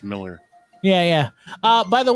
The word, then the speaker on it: Millar: that's a good point mark himself has said it's just pronounced miller yeah yeah uh by